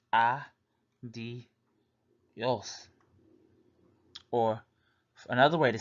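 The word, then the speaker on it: adiós: Spanish pronounced o la adios which means bye in Spanish pronounce ah d yes or another way to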